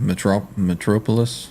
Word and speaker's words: Metropolis: yeah, How do you pronounce fantastic. that? Metropolis?